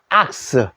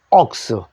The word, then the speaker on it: ox: 되고 복싱이 해도 됩니다 황수 한 마리는 악스 혹은 옥스 여러 마리는 슨 옥슨 자 그다음에 요거